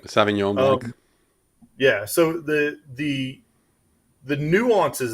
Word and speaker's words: Sauvignon Blanc: The wine Sauvignats. Is that how they say it? Sauvignon Blanc.